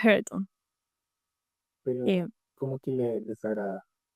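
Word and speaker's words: Hareton: Heron se pronuncia Heraton, pero ¿cómo que le desagrada?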